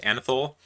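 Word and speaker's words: anethole: of these is anaphyl which kind of sounds like i have a lisp but this is how it's pronounced anthol so here you can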